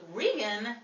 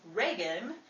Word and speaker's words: Reagan: Mr oron Wells after Ronald rean would later become president Ronald Reagan the name chains pronunciation came about somewhere during his transition from Hollywood to Washington some of his most